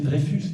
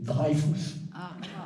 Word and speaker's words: Dreyfus: sorte le Juif modèle certains affecteront d'ailleurs de ne pas prononcer drefus mais drafus hein pour bien faire sentir que il peut pas être français et le scandale c'est